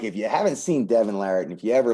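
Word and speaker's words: Devon Larratt: and i'll assume one of them is uh devin larrit if it is that's how you pronounce his name yep i feel like i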